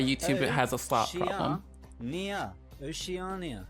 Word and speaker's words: Oceania: Oceana. What are we watching? Oceana has... We're watching YouTube, why YouTube has a slop problem. Oceania. Not Oceana.